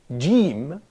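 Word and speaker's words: جيم: Okay, so I can say, for example, jim, and I pronounce it as j. Yeah. So the name of the letter in Arabic is jim, but it's not pronounced jim. The sound is j.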